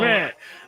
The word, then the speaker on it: Szmyt: Schmidt. Okay, well, Schmidt.